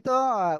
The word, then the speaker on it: ت: প্রথমে যে অক্ষর শিখেছিলাম সে অক্ষর ছিল এই তিনটি অক্ষর আপনারা এখন স্ক্রিনে কিন্তু দেখতে পাচ্ছেন ঠিক